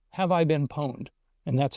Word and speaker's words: Pwned: Here's another freebie I'll give you, is a thing called a website called Have I Been Pwned, and that's how it's pronounced.